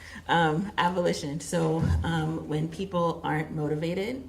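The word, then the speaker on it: avolition: Maybe I'm pronouncing it wrong. A-V-O-L-I-T-I-O-N? Oh, got it. Abolition.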